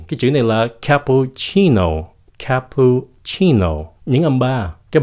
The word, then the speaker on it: cappuccino: Các bạn nghe này nha. Cappuccino. Các bạn có nghe pu rõ không? Không có rõ. Cappuccino. Cho nên các bạn không cần phát âm rõ cho những cái âm lướt. Chỉ cần cái âm nhấn thôi.